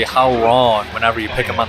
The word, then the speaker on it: Hwoarang: one is uh hang I think the technical pronunciation is farang but uh for whatever reason the uh just the game itself in this one in particular I mean like they say how wrong whenever you pick them